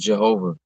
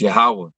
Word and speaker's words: Yahweh: There's no J's in Hebrew. It's not Jehovah. It's Yahweh.